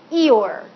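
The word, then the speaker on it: -ior: we're going to add the three letters i o r which are pronounced eore do you remember in Winnie the Pooh Eeyore the donkey Eeyore is always more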